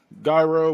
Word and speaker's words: gyro: my list I'm gonna go good old Euro Gyro whatever you want to call it it's pronounced Euro but some people say gyro gyro hero other